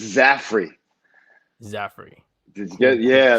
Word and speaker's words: Zaffere: also the five region sports network mr zafare did i say that right it's zafri zafri did you get yeah there you go